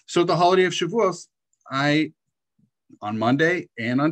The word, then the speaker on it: Shavuot: had the holiday of shavuot or shavuous if you prefer to to pronounce it that way so the holiday of chevos i on monday and